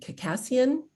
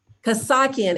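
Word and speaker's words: Kassakhian: three panelists from local government we have cacassion did i pronounce that right close enough i didn't say the correct pronunciation of your last name kosaki and we practice as long as you don't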